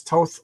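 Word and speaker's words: Thoth: As long as you pronounce Toth like both.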